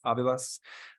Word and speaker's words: Avalos: Today we have Avalos. How do you pronounce it? Avilas.